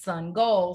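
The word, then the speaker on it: Sangoel: and his name is sun goal so he draws a sun and then puts like a soccer goal below it and so everybody remembers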